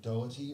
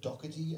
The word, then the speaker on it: Doherty: about a guy named thomas doherty or docherty as he pronounced it and they still pronounce it um and he was